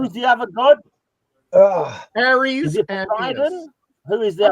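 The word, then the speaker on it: Ares: I'll accept a lot of your razzmatazz, Roger, but one of the Greek gods wasn't named Harry. Okay. I don't know where you're getting Aries.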